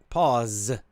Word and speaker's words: pause: is the american pronunciation pause with a z z it's more of a z sound we use pause i